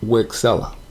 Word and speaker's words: Wixela: out of habit i don't know it's actually pronounced rexella as you see i'm on their website and